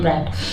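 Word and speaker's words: bright: हैं लफिंग में लेकिन यहां पर ब्राइट को टी के पहले जी एच हो तो साइलेंट रता है इसको पढ़ते हैं ब्राइट तो कितनी चमकदार शनि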